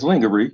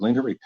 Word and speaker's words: lingerie: bed and lingerie and it's lingerie yeah it's spelt lingerie pronounce it lingerie um man my that's